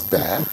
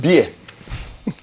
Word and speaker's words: bear: How many Nigerian children pronounce bear as bear? They call it beer.